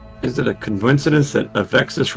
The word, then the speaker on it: Avexis: Is it a coincidence that Avexis rhymes with Texas?